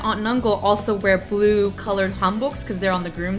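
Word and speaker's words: 한복: Casey so what is you called it a Han book is that did I pronounce it correctly yeah so a home book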